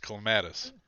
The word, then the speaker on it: clematis: pronounce that first word it's pronounced clematis every time you do